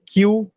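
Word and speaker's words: queue: दूसरी होगी हमारी क्यू, क्यू यू ई यू ई, इसका नाम ऐसा है कि क्यू छोड़ के बाकी सब साइलेंट है।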